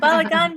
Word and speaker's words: balagan: personal organization expert and I'm gonna say it wrong balagan did I say that right you said it right yeah balagan beone personal organization and